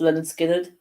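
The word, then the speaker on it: Lynyrd Skynyrd: 50 albums of all time and that being pronounced Leonard Skynyrd but of course Leonard Skinner which one which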